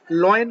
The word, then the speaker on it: lion: हुए कि वो LION लायन को लॉयन बोलते हैं। हम बच्चे अपने छोटे बच्चों को भी यही सिखाते हैं, L फॉर लॉयन। इसका सही प्रोनाउंसिएशन लायन, LION लायन।